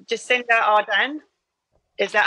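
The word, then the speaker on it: Ardern: Number 5, Jacinda Arden. Is that how you pronounce her surname? Yeah, New Zealand. Arden, yeah.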